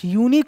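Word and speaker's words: unique: তারপরে রস্যু মোটেও না আমরা কিন্তু ইউনিক কথাটা ভেঙে ভেঙে উচ্চারণ করি না করি ইউ নিক ইউ নিক কখনো করি না ই এর উচ্চারণ হস্ উচ্চারণ আলাদা করি না ইনিক করি কি ইউনিক করি কি করি না করি হচ্ছে ইউ করি হচ্ছে ইউ কি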